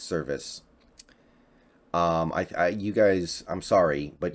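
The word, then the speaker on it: Servais: I keep pronouncing it Cervais, it's Service.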